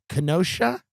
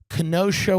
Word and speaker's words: Kenosha: Uh he went out there was a protest in Kenosha, is that the way to pronounce it? Kenosha, Wisconsin about the shooting of Jacob Blake.